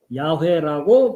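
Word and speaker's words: יהוה: 어쨌든 그렇기 때문에 이 상태로는 발음하기가 어려우니까 거기에 A자와 E자를 덧붙여서 야훼라고 발음한다고 알려져 있죠.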